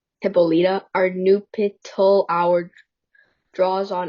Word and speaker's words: Hippolyta: Hippolyta. Hippolyta, our nuptial hour draws on apace.